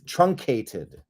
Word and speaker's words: truncated: name of that word TR Ru n c trun Kate truncated I was adding an extra syllable shortened in duration or